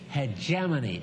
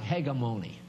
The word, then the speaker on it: hegemony: Hegemony. Its spell looks like hegemony. But when you see it, it's pronounced hegemony, and it means leadership.